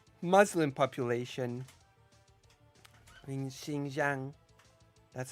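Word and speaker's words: Xinjiang: China is doing right with its Muslim population Shing Jang that's how you pronounce it like that's what China is doing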